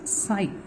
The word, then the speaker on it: psi: Wave functions, they are represented by the letter, this is called as psi. P is silent here, it is called as psi.